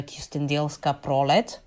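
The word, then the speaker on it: Кюстендилска пролет: It is an official holiday in my city, and we are celebrating it as a Kustendilska prolet. This is actually how we are pronouncing it.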